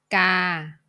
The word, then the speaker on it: กา: The pronunciation of this word is กา กา because it's a combination of กอไก่ g, and สระอา a, กา Now let's move to the next vowel.